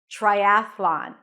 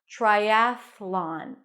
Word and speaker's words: triathlon: the best for last you start with a t and then an R try try again the T sounds a little bit like a CH sound or a lot like a CH sound try then a as in cat and a voiceless th triath and from the th you transition to the L Sound Triathlon with the A's